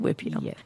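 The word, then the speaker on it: huipil: So, just so our listeners know, it's H UI P I L pronounced Whipio.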